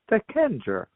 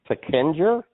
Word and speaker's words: Seckinger: I said Seckinger. Didn't you heard me? I can't even understand that. You said your name is Adversated? Seckinger. Seckinger?